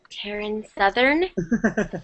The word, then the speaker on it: Taryn Southern: Taryn Southern? Yeah. Ooh, she just put your stuff on blast. It's okay. I'm okay. It rhymes with Marin Smothern. Who's that?